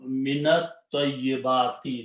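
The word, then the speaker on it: مِنَ الطَّيِّبَاتِ: And when you recite together, you will pronounce this as a fatha, so it will become minat tayyibati.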